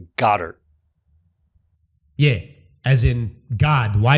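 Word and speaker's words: Goedert: another one you called the Eagles player Dallas go dirt yeah yeah no his name is pronounced Goddard yay as in God why did you give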